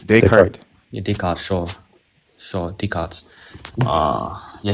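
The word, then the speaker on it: Descartes: How do you pronounce it exactly? It's Decart.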